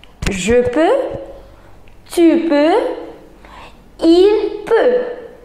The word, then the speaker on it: peut: il peut. We are not going to pronounce x, x, t, no.